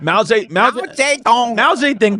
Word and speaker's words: Mao Zedong: Mao Zedong. Dong. Yeah, people are going, oh, that's offensive. No, actually, that's the correct pronunciation.